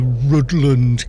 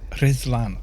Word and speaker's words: Rhuddlan: They might stop not saying, we're going to go to Rutland Castle. Rhuddlan Castle. Might get them to say words properly. Grinchlow, welcome to the stream. See, I'm educating the world on how to pronounce two D's together in a word, if the word is Welsh.